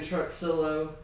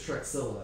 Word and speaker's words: Truxillo: I think it's actually Trujillo. Seems like the X would be a little silent.